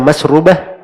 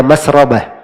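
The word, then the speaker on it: مسربة: Bisa dibaca masrubah, bisa dibaca masrabah.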